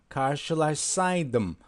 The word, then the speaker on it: karşılaşsaydım: Or you can say karşılaşsaydım. Maybe you may have difficulty pronouncing the words here because there are double sh here. As you see, this letter shows sh. So karşılaşsaydım.